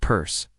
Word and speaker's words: Peirce: Charles Sanders Peirce, often pronounced Peirce, was born on September 10, 1839.